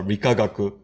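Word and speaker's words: 理化学: So these 6 characters, and so they pronounce the first 3 characters are Rikagaku.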